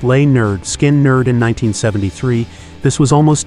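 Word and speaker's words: Lynyrd Skynyrd: recorded their debut album pronounced lay nerd skin nerd in 1973 this was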